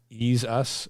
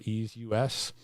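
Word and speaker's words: EaseUS: pretty good reviews is i want to say this is pronounced as ease us or ease us and you can download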